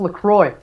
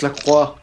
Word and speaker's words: LaCroix: you're using o'clock news it's actually pronounced Lacroix it's Lacroix Egypt yeah but yeah in